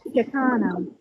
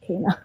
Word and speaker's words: Shakina: Shakana. Oh Lord, please. Go ahead and speak, Shakana. It's Shakina. It's pronounced Shakina. Shakina.